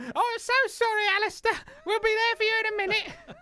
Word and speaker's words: Alasdair: It's Alis- Alister, not Alist- uh First Fairphone,